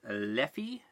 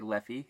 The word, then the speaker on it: Leffe: it's widely available its leafy leafy leafy I'm gonna say levy it's pronounced a number of ways depending on who says that I suppose it's one